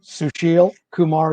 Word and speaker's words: Susheel Kumar: Kumar and say your name correctly if I said it wrong Karen Sushil Kumar is my name public information officer for the